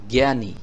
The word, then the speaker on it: জ্ঞানী: বাংলা সামনে রিডিং পড়বো জ্ঞানী জ্ঞানী লিখতে এই অক্ষরটি আসবে তখন উচ্চারণটা হবে গর মতো এখানে দেখুন গ আছে